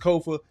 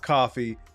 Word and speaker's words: Kofa: I am your humble host, Kofa, K-O-F-A, not coffee, not, not Kofi, or any variation thereof. Kofa rhymes with sofa, easy to say, easy to spell.